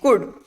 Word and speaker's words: could: Next, could and walk. In these two words, we are not speaking out the sound of L, right? So L is silent there.